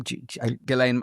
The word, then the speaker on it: Ghislaine: Some people have claimed because Ghislaine, how do you pronounce her name? Ghislaine.